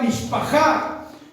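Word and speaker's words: משפחה: que la familia significa en hebreo se pronuncia mishpaja en la Biblia la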